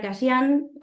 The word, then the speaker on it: Cayian: de dicho municipio, y a la doctora Cayán, corríjanme, doctora, si pronuncié mal el No, apellido.